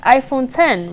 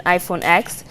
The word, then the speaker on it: iPhone X: plus an iPhone X which is pronounced iPhone 10 rather than iPhone X the three new phones